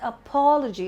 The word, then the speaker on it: apology: Not apology, but apology. The stress is on pa.